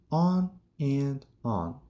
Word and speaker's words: on and on: He talked on and on. اصطلاح on and on که در جملات به شکل on and on تلفظ میشه، یعنی and به شکل یک n تلفظ میشه.